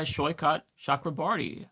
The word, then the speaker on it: Saikat Chakrabarti: He is uh Shyot Shakraarti. Uh Sho, am I pronouncing your name correctly?